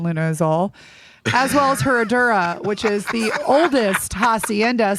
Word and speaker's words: Herradura: It's Herradura. I don't say it right because I'm not from the Mexicos. You gotta trill the R's. Herradura.